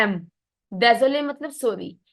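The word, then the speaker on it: désolée: sorry य सुई डजोले इसकी साउंड ज आएगी स नहीं आएगी ज बिकॉज़ जब एस के आगे बोल हो एस के पीछे भी वोल हो तो एस की साउंड क्या बन जाती है ज सो इट बिकम्स यस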